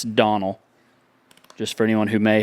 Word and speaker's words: Donnell: And the O or the, I just shortened it to Donnell, and that's the way it's pronounced.